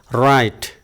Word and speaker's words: write: we-nya tidak perlu diucapkan we don't pronounce W but we pronounce right Oke the next One